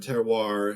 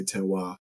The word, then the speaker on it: terroir: But so it's a French term, terroir is generally how it's pronounced in English. The French say terroir.